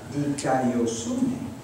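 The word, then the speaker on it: δικαιοσύνη: It's spelled, here we go, D-I-K-A-I-O. And now we add the suffix S-U-N-E, dikaiosune.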